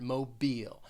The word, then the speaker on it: Mobile: now i think uh mobile has two syllables the stress is on that second syllable but i i think this can be confusing because people might think of like well like a mobile phone the pronunciation of this city is very different mobile and that second syllable